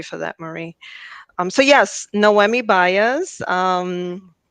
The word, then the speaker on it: Noemi: I came up with a creative way to say my name. I'm actually I say that I'm not an actress, but my name is like no Emmy awards. So unfortunately, I will never get an Emmy. But that's that's the best way to sort of pronounce my name.